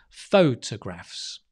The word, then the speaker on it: photographs: not top but again the stress on the foe you make it a bit longer right photographs yep photographs and when you stress it's a bit like punching it's boom boom it's a quick jab photographs photographs photography photography